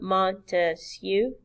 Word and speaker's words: Montesquieu: to the government's power remember Montesquieu three syllables three branches and so